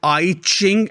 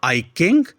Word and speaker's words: I Ching: The next one is I Ching and not I King.